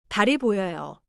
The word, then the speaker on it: 달이: The E is a separate little syllable after. 달이 보여요.